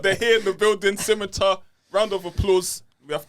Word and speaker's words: PSiMiTAR: That was the smooth sounds of Scimitar. Did I pronounce that correctly?